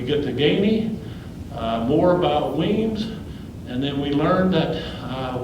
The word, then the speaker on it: Wemyss: John James was against, you and I would pronounce that Wemyss, but we know it's pronounced Weems.